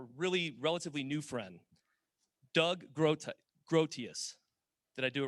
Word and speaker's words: Groothuis: And then finally, our really relatively new friend, Doug Groothuis. Did I do it right? Close. What is it? Groothuis. Doug wanted me to let you know that he was not offended by me mispronouncing his name.